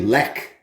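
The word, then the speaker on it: Lech: The CH, you would think would be like a sh sound, like in Chevy, but when it comes to Polish beer, it's silent. Instead, it's a hard K. So this one's actually Lek, is how you say that one.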